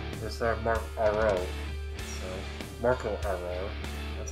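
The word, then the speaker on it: Marco Aro: So, Marco Arro, that's how you pronounce his name.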